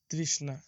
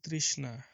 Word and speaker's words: তৃষ্ণা: তৃষ্ণা। এই শব্দটির উচ্চারণ হবে তৃষ্ণা, তৃষ্ণা।